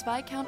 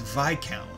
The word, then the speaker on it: Viscount: Yes, my father is Viscount Arseid, Lord of the Graham. Oh, it's pronounced Viscount. I've always called it Viscount.